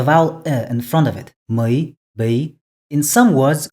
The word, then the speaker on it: ми: Mui, Bi.